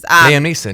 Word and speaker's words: Liam Neeson: know, Liam Neeson is not, whatever his name is. Liam Neeson.